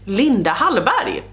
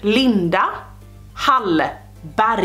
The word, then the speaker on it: Linda Hallberg: Hallberg but we say Linda Halle Berry yeah Linda Halle Berry and that is the Swedish pronunciation of the Swedish Linda Hallberg or Linda hunt body